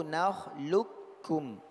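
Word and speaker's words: نخلقكم: Ada dua cara bacanya, ya. Boleh dua cara bacanya, tapi yang muqaddam yang pertama yaitu nakhluqukum. Dia menjadi kaf. Ya, huruf qaf menjadi huruf kaf bertasydid. Ini yang muqaddam.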